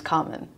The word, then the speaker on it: Carmen: But for me, like going, my name's Carmen. It's just like how you pronounce, you know, what is it, the Spanish or French, you know, operas, you know, Carmen.